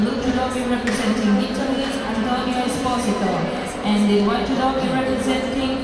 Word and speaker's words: Esposito: Or as they say in the United States of America, Esposito. That is how they pronounce the name in the United States of America. Esposito. But my Italian friends tell me that it is Esposito.